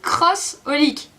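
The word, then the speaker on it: xxxHOLiC: Ça, c'est pas XXX Olic. On soit bien d'accord. Clamp l'a expliqué plein de fois. C'est Cross Olic, ok? Ne me dites pas XXX. C'est cross.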